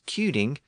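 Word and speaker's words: cyning: still being pronounced as cuing with the original k sound so in some cases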